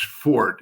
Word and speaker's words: forte: uh the uh uh it's mispronounced a lot because people see that e but there are a lot of Silent e's in uh in French and if if you go